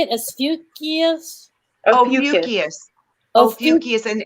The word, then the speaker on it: Ophiuchus: Ophiuchus. Ophiuchus, and it's spelled Is the serpent's tail?